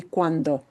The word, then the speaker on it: cuando: It'll be cuando.